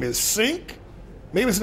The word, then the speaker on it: Cenk: He says Cenk Uygur, which is the most common mistake.